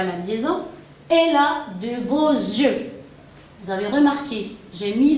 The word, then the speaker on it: beaux yeux: liaison, elle a de beaux yeux. Vous avez remarqué, j'ai mis la liaison et j'ai prononcé un yeux. Car le X, quand je le mets en liaison, il se prononce comme un Z.